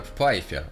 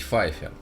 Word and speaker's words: Pfeiffer: Solo en Rusia, el nombre de la actriz se pronuncia como "Pfeiffer", pero se considera correcto decir "Feiffer".